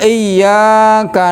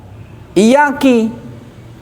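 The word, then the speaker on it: إياك: A yaquula iyyaka na'budu bikasril fa bikasril kaf. Iyaki bacanya iyaki. Iyaki na'budu ki perempuan.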